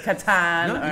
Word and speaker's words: Kattan: it's because it's like captain or if it's catan you said it right yeah it actually means